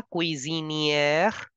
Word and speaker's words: cuisinière: S is between two vowels, so please change the sound to Z. La cuisinière.